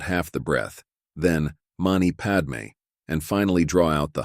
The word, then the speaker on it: padme: as in mama and Padme as Papa and me hum is another form